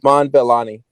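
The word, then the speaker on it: Iman Vellani: do you say your name iman valley valley iman belani iman for this to be her first time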